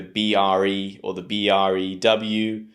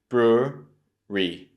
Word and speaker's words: brewery: brewery, not brewery, because often students take the BRE or the BREW, but it should be brewery, brewery.